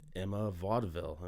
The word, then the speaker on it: Emma Vauxdevil: Well, we are recording, so good afternoon, Emma Vauxdevil. Am I pronouncing that correctly?